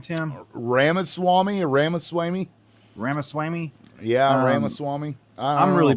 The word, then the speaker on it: Ramaswamy: or the uh vivec uh how do you pronounce his last name Tim Rama Swami ramaswamy Rama Swami yeah I'm really bad about pronouncing